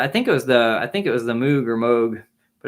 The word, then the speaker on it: Moog: done on the Moog, or it's spelled Moog. I've heard it pronounced both ways, Moog, but it's really Stevie